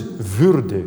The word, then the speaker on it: würde: He makes it was wonderful, the first two phrases now, but the word is würde. Würde. We can't have an accent on the back.